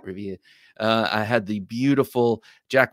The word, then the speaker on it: Revere: I had the 1558 Revere got to say it like that, Revere.